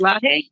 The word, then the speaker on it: Lage: I call it Mr. Lage. It's Lahe. How is it? How do you pronounce it? It's Lahe, but I'm fine with Lage, Judge.